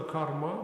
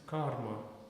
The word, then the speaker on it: karma: can look for example it's never karma but it's karma because rya you get inonation on the first syllable that's what you also say it's into the stress especially not not only the stress because they all can be guru you make it longer it becomes longer